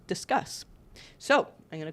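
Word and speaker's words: Disqus: let's talk a little bit more about disk discuss comments I had a couple of people reach out to tell me that I was mispronouncing it really looks to me like discus apparently discus should be pronounced discus so I'm gonna call it discus comments if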